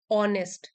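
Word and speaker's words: honest: opposite word हो गए ऑनेस्ट ईमानदार इसमें एच साइलेंट है ऑनेस्ट ईमानदार ट्रस्ट वर्दी जिस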